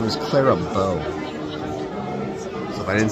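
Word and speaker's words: Clara Bow: Her name was Clara Bo.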